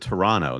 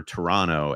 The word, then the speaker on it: Toronto: Toronto Canada yeah but you have to pronounce it Toronto that's what I'm learning if you pronounce the extra t uh somebody here in